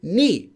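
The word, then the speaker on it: 네가: The reason is if you say 내가, it sounds like you're saying 내가, which is the regular 나는 plus 가. If you take 나 and plus 가, the subject marker, you don't get 나가, you get 내가. So for this case, they actually say ni. But this is only for this combination, only with ka.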